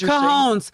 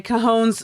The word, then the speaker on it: cojones: know what it is cajons i'm sorry cajones surgery i mispronounced that cajons like he ain't